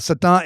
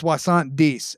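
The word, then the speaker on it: soixante-douze: Swissant de is how you say 72. Swasan is 60. D is 12. But to say 72, it's not satant, it's swasant d.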